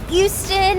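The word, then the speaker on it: Euston: thank you we're at eou London Station it's pronounced eou and it's spelled e s t o n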